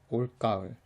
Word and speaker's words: 올가을: 올가을 is similar to 올겨울 that we saw before in that it has a different pronunciation from the way that it's spelt. Just keep in mind that it has a hard G.